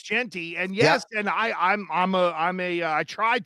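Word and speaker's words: Jeanty: I'm like, am I pronouncing this right? Oh yeah, it's Genty, and yes, and I tried to be like a pronunciation freak, but on the other side, the Auburn-Florida matchup.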